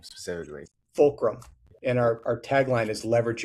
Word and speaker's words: Fulcrum: And how do you pronounce the company name specifically? Fulcrum.